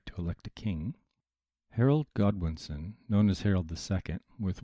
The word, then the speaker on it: Godwinson: more politics leading up to 1065 when Harold Goodwineson was elected, yes, elected, King of England. You said the name wrong again.